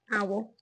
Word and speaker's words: awl: How do you say that? Owl. Right. An owl.